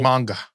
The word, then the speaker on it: manga: So manga.